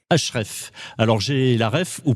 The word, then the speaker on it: HREF: Vous représentez la société HR F qui se prononce HREF. HREF.